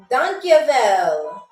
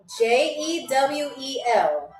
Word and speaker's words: Dankjewel: The second word is dankjewel.